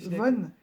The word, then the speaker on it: von: pas C'est rigoler, mais Von, pas Van, Von. je la connais pas. Ouais, Hildegard von Bingen.